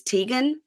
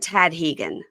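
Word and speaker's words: Tadhgain: my friend whose nephew his name is Teegan but it's spelled ta a d g h a i n so it looks like Tad hegan oh interesting tag never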